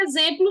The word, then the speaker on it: exemplo: Então, em exemplo, X tem som de Z.